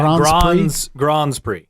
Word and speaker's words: Grands Prix: Yeah, Grands Prix.